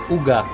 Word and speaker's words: uga: Pastel en hebreo se dice uga.